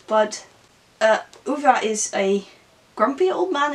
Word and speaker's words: Ove: I actually looked it up how to say his name because I always say a man called Ove, but it is actually a man called Uva.